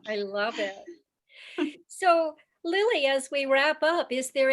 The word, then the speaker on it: Lille: And sometimes there's confusion around my name. People look at my name and they think it's little, or like Lil is short for like little Diane.